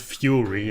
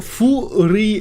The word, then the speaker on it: Furi: really stood out to me people call it Fury and for the record that pronunciation is actually wrong because Fu and three